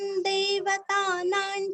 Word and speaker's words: दैवतं: में आधा म, दैवतन, दैवत, द के ऊपर दो मात्रा है और अनुस्वार का उच्चारण आधा न, दैवतन, देवतानान, देवतानां, देखिए पहले दै आया है, बाद में दैव, अभी देव।